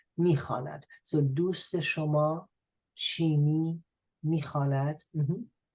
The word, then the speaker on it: میخواند: But still you write it, but you do not pronounce it. میخواند.